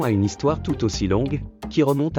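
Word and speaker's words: 龙: vif du sujet le mot dragon se prononce long en chinois c'est aussi un nom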